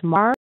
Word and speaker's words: martyr: It's kind of a weird spelling, but it's the same as martyr.